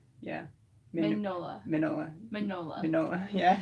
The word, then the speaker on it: Mignola: because it's spelled Mignola, but I think the G's like kind of silent. Gillian Dyer. No, like right here. Oh. Mignola. Mig- He's the creator of Hellboy. Magnola. Magnola. Yeah, Mr. Carroll said don't say the G.